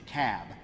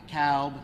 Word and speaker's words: Cobb: the room it's the cab not the cowb not the cobb it's the cab so we got to pronounce these things dougherty another one of those where albini is they're 74.